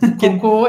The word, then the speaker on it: Coco: Coco, e como cocô mesmo em português.